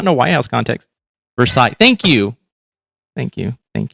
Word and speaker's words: Versailles: Like, all the ornate belongs in Versols or Versali's. Uh, no, I think it's Versols. I can't I'm bad at pronunciating this stuff.